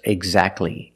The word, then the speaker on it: exactly: And when you see T between consonants, it's silent. Don't pronounce the T. If you link the sounds, do not pronounce the T. Examples: exactly and Christmas.